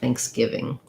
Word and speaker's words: Thanksgiving: i have thanks and then my stress happens on my gi syllable of giving and then again i have another ng sound at the end thanksgiving um watch out for your v as well that you have the upper teeth and lower lip making that sound ving thanksgiving and you'll notice that